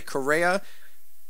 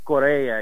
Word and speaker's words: Correia: your last name correctly Korea Korea just like the country I guess my grandfather would say Korea you know he's a